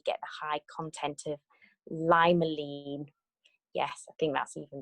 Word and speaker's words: limonene: The limonene, I believe, is how you say it.